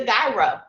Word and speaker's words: gyro: That's what it's gonna be. All right. We've learned that in Greek they say it a different way, and all over the U.S.